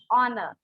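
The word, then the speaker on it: honour: H silent वाले word बताओ। Ma'am ऑनर। Correct, ऑनर।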